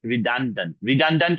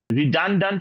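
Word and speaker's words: redundant: বলা যায় গ্রুপ ভারবে যে মেড রিড মেড রিডন্ড কথাটার মানে হচ্ছে যে বেশি মানে অতিরিক্ত এডিশনাল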